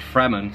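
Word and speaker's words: Fremen: Journey anyway I'd say the name fremant pronounced fremin sounds close to three men a suggestion that they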